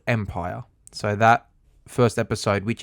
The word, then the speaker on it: MPYR: Empire is spelled MPYR.